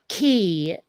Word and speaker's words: quay: like you know um how key in terms of like like water travel Navy is spelled like it should be Quay oh okay yeah you